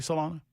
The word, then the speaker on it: Solano: Am I pronouncing that correctly, Solano? Yeah, that's my last name. That's correct, man.